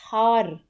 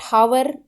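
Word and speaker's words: hour: ही return after dash हार इट्स नॉट हावर इट्स हार तो हार के साथ क्या यूज होता है अ की आवाज आती है बड़े आ की तो क्या आएगा आंसर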